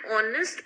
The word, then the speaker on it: honest: Again, this is an exceptional and honest person. Again, H is silent and you are beginning the word with sound O.